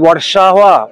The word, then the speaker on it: Warsaw: Beautiful city of ওয়ারসো, যেটাকে এখানকার লোকালরা pronounce করে ওয়ারসাওয়া বলে, ওয়ারসাওয়া। আমাদের বম্বেতে আছে না ভার্সোভা, ভার্সোভা, এরা লোকালরা বলে ওয়ারসাওয়া, বাট অ্যাকচুয়ালি ইংলিশ প্রোনাউন্সিয়েশন হচ্ছে ওয়ারসো। এই সিটিটা কেন এত ইউনিক